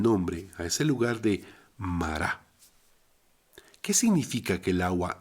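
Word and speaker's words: מרה: Por tanto, le pusieron el nombre a ese lugar de Mará. ¿Qué significa que el agua era amarga? Bien, en hebreo amargo se pronuncia mar. Entonces amarga es mará.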